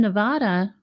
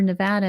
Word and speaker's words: Nevada: world, but here in Nevada, or Nevada is how they say it here.